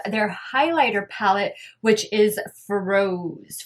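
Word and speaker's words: Frosé: highlighter palette which is froze froze froze right has the accent on the e ugh guys i'm terrible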